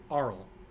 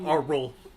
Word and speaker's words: aural: it say oral no don't put more emphasis on the first syllable than the last syllable aural aurel aru there you go not our role arl aurel let it flow rolling action action music